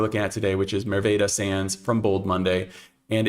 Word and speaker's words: Merwede: say this right because I believe that it's pronounced as the Dutch should pronounce it, which is Merwede. My American brain is going to probably say Merwede at some point in time, but Merwede is how I believe this is pronounced.